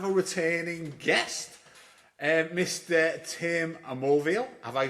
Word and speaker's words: Mulviel: Tim Amoreial. Have I pronounced your surname properly there again, Tim?